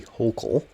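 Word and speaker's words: Hochul: and is now governor Kathy holkle which so that's how it's pronounced yeah something that bothers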